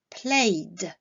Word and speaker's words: played: Par contre, lorsqu'on est face à un verbe qui se termine par un son sonore, la terminaison ed se prononcera d, played.